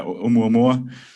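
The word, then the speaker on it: ʻOumuamua: And Klaus, you could probably pronounce that correctly. Yeah, Oumuamua.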